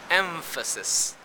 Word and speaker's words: emphasis: consonant for example emphasis where the m in the spelling is actually pronounced as a labiodental nasal instead of take a look emphasis that means the place